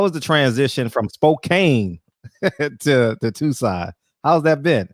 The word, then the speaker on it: Spokane: Just Spokane is how the locals say it.